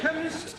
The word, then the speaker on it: chemist: blame me k e chemist does not begin with a k it sounds like it begins with k CH H but that